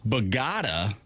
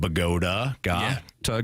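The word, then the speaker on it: Bogotá: Apparently it's Bogota. Bogota. I just look at what the sheet says. The sheet says pronounce Bogota. Like Bohart, go fund me, and ta.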